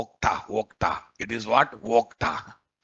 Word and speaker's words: Okta: OAuth 2.x or Vodka. Okta.